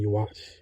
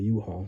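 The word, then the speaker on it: Yhwach: I was saying you watch. You know what I'm saying? I was saying you watch, but I heard it was called U-Haul.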